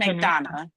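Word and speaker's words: McDonough: was it Atlanta I'm in Henry County and McDonna McDonna can you spell that MC D O uo G H I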